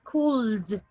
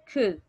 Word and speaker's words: could: don't pronounce bro we don't pronounce the l okay so we don't say cooled cooled no the word is ku can you repeat that